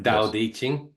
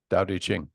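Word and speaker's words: Tao Te Ching: But pronounced Diqing. Daqing.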